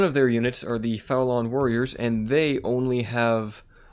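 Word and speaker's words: Faolan: One of these clans is called the Faulan. I believe that's how you say it. That's how I say it. F-A-O-L-A-N, the Faulan.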